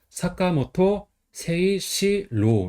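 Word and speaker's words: 坂本誠志郎: 그래서 언더판는 보통 사가라고 읽어요. 근본은 모토 정성은 음덕으로 새, 뜻은 음덕으로 시, 상해랑은 이것도 음덕으로 로라고 읽어요. 그래서 사카모토 세이시로 이렇게 있습니다.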